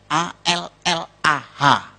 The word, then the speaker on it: Allah: Cuma dia membacanya, ngejanya beda sama kita. Kalau kita cukup Allah gitu. Kayak bercanda sama teman aja, Allah lo gitu aja tersinggung gitu ya. Kayak begitu, ringan gitu. Bacanya itu ringan. Tapi kalau mereka itu terpengaruh dengan bahasa Arab. Jadi nggak ringan, Allah.